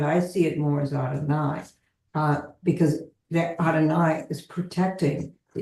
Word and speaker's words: Adonai: What I wanted to say before that question is the Hebrew, and it's usually pronounced Adonai rather than God.